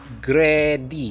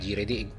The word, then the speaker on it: GReddy: Di dalamnya, ada juga pengucapan GReddy. GReddy. Ya, jadi bukan "Jedy", yang berasal dari kata "great" dan " eddy". Jadi, pengucapannya GReddy, "grade", ya, benar, GReddy, bukan "Jedy".